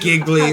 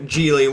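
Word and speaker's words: Gigli: Giggly or whatever, however it's Giggly. pronounced. G-I-G-L-I, Yeah, you know, Geely, whatever the fuck it's called.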